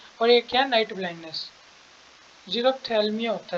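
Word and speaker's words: xerophthalmia: Night blindness, जीरोप्थेल्मिया होता है। Zero, मैं एक बार स्पेलिंग ठीक कर देता हूँ।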